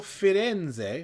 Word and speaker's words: Firenze: Carnival Firenze, which is the correct pronunciation by my understanding, formerly Costa Firenze.